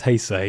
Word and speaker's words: Heisei: of changes boy yeah took me ages to work out had to pronounce hyay I always thought it was hey yeah right I had no idea until I heard an actual Japanese person say it good Lord yeah